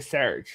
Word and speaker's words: Serge: And then they shortened it to Serge. No, actually, if you remember that scene, it was Axel was mispronouncing. He kept correcting us. No, it's actually Serge.